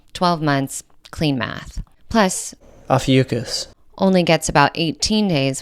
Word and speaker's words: Ophiuchus: 13th one, and I cannot remember how to pronounce it, so. Ophiuchus.